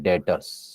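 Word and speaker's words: debtors: डेटर्स, B silent है।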